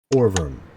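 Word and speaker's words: Ohrwurm: by is or it's it's uh or worm hey spell that it is o h r w u r m or verm uh have we heard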